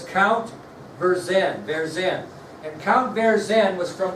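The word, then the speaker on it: Vergennes: You pronounce that? Right here. Okay, it's Verzen.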